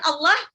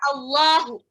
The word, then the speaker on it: Allah: Jadi ada yang bacanya lillahi sama Allahu. Ya, ada yang bacanya dia pakai lafal A, ada yang kayak bacanya itu kayak lafal O. Nah itu, kalau yang tebal dia pakai lafalnya O. Ya kayak O lah, bukan nggak bisa O sempurna ya.